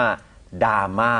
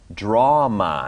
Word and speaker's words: drama: ดราม่า ก่อน นะ ครับ 1 มัน ไม่ ได้ ออก เสียง ว่า ดราม่า นะ ครับ ดราม่า จริง ๆ มัน จะ ออก เสียง ว่า drama นะ ครับ drama ซึ่ง อัน นี้ มี D ควบ กล้ำ ตอน ต้น คำ